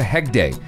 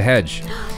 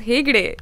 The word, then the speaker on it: Hegde: With Prabhas and Pooja Hegde, whose name I first read as Pooja Hedge.